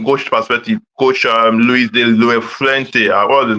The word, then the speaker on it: La Fuente: Coach Luis de la Fuente. What's his name? I can't pronounce the name. It's a Spanish name. Luis de Fuente.